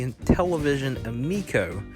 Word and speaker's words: Intellivision Amico: new and television console it is actually called the Intellivision amico so I was pronouncing that wrong so I just wanted